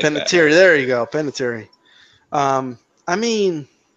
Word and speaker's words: Panettiere: Panettiere, there you go, Panettiere.